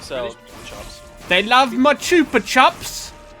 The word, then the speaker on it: Chupa Chups: They love my chupa chups. Wait, it's Chupa Chops? I mean, how do you say it? Chupa? Well, there's only one P, so it's Chupa. Oh, yeah. Chupa chop. Also, it's Spanish.